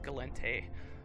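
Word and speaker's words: Gallente: archives to tell me it is in fact pronounced galente very disappointing for me having it wrong for all these years but there you go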